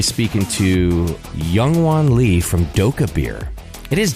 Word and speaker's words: Dokkaebier: going to be speaking to youngan Lee from doab beer it is doab beer right am I close with that pronunciation okay good perfect probably should have asked